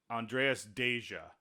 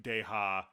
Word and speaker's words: Andreas Deja: my favorite animator, and it's Andreas Deja. It's not the Hispanic Deja, but he did Gaston.